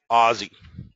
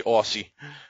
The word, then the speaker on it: Aussie: And then you have Canadian dollar, CAD, the loonie, Australian dollar, AUD, is known as the Aussie, or I believe the Australians say Aussie, but some Americans say Aussie.